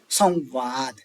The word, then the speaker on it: संवाद: जैसे संवाद है। संवाद में क्या है? व है। व से पहले अनुस्वार है। तो अब इस यह तो व से पहले तो वकार से पहले अनुस्वार तो हो गया। अब ऐसी कंडीशन में जो ओष्ठ वर्ण है उसको दो बार बोलो। दो बार लिखा ही है। बोलना क्या है? बोलेंगे भी संवाद।